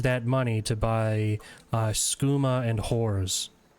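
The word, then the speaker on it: Skooma: money to buy uh schuma and if I'm being honest oh no it pronounce ah it said scuma and Horrors whoa I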